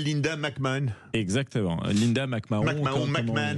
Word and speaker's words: McMahon: McMahon avec la prononciation américaine.